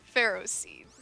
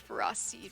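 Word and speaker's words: Ferroseed: but most people say pharaoh scenes however the official pronunciation is ferocid and for raw thorn instead of pharaoh seed and pharaoh thorn no it is not like ferris and no i don't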